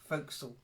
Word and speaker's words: forecastle: that The Forecastle was going to come again folksall okay this word you never know you might